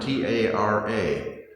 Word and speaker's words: Tara: My wife's name is, speaking of Ireland, T-A-R-A. And how do you pronounce T-A-R-A in Ireland? Tara.